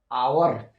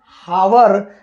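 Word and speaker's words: hour: है next word है आवर ये लिखा गया है हावर लेकिन हम एच को साइलेंट प क्योंकि यहां पर वावेल ओ आ रहा है इसलिए दोस्तों हम पढ़ेंगे आवर नेक्स्ट वड है ऑनेस्ट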